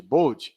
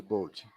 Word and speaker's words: Bode: Eduardo, diagrama de Bode. Os alunos gostam de chamar de bode, mas pronuncia Bode, mas escreve bode.